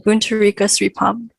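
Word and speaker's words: Boontarika Sripom: correct pronunciation so anyone else who wants to pronounce my name um buntu rico sripam thank you and thank you for being on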